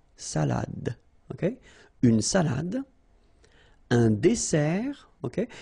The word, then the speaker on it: dessert: So, remember that we've got here two S. Okay? That's the reason why you pronounce it S. And then it opens the dessert. Un dessert. So, you don't say un dessert. Okay? But you say un dessert. Final T not pronounced.